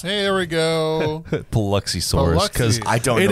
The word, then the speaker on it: Paluxysaurus: It is the Paluxysaurus. Hey, there we go. Paluxysaurus. Because I don't it know is the Paluxy. It's not. Okay. The Paluxy from Biloxi.